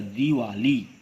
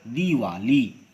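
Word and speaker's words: दीवाली: उसी तरह दिवाली यह अशुद्ध है उच्चारण है, जबकि इसका उच्चारण क्या होगा? दीर्घी की मात्रा लगाकर दिवाली शुद्ध उच्चारण होते हैं।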